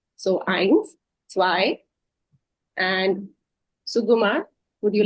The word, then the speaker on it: zwei: So zwei, it's a sharper sound, right? That's why it's said. So eins, zwei, and Sugumar, would you like to try this one?